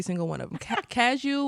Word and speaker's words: Cadieux: Ca- Cadieux was Cadax.